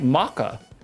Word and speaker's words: mocha: They look like they taste like maca. That's how That's how the Brits say mocha.